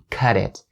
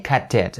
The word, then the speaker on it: cut it: You could also say cut it, but I think it's more of a British accent and way to pronounce it. And since we're teaching North American, change the T to a D.